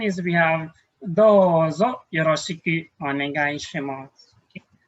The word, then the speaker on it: onegai shimasu: Okay, next one is we have dozo yoroshiku onegai shimasu. Okay. So be careful with our pronunciation here. We don't say onegai shimasu or onegai shimasu. It's a silent U.